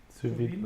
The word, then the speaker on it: sous vide: So this is my first time having sous vide. Sous vide? Did I pronounce it right? Sous vide.